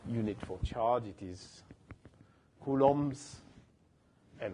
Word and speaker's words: Coulomb: That's a French person, so we don't really say Coulomb, we say Coulomb. We don't pronounce the B on the end.